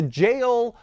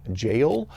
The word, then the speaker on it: JEOL: And so, it's supposed to be pronounced like J O R U, which is the katakana way to pronounce it, and even that I'm probably getting wrong uh slightly.